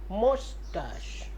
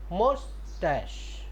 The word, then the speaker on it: moustache: How can pronounce it? Mustache. Mustache.